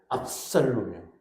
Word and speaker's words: 압살롬: 발음을 잘해야 돼. 압살롬이요.